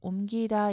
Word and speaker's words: 옮기다: 옮기다 역시 대표음 미음 남는데 뒤에 오는 기를 된소리가 아니라 평음 그대로 옮기다 이렇게 하셔야 돼요.